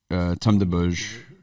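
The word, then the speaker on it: Tome des Bauges: Like Tome de Bauges, you see it? Yeah. Huh. Like Place des Vosges, Yep.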